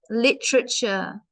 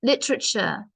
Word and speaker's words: literature: wrote the book Frankenstein literature yeah lit lit literature the a is silent so lit so don't say the a because that's silent Lit Literature yep the